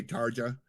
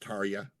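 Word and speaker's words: Tarja: A lot of people say Taria, but it's actually pronounced Taria.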